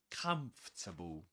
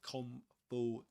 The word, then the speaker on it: comfortable: We don't say comable or comfortable but comfortable. Okay? Comable. We don't pronounce the O um nor the R. We don't pronounce this. We pronounce the rest. and in three syllables.